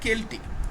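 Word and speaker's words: Celtic: ধরনের মাইথোলজি দেখতে পাব কেলটিক মাইথোলজি হ্যা সেলটিক উচ্চারণটা নয় কেলটিক এটা নিয়ে দু চার কথা একটু বলে দিই।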